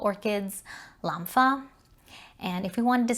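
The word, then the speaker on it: 蘭花: say dai lampha however if you mispronounce the first tone and say da lampha that actually means to hit an orchid so if you go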